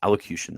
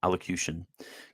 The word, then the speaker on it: allocution: let's see what this is allocation allocation elocution allocution that's how you pronounce it allocution given on the 16th of September 1960 this